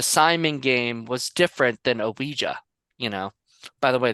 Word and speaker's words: Ouija: something different the Simon game was different than oija you know by the way that's how you